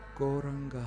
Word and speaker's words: Gauranga: Goranga has 4 syllables. Go, ra, an, ga.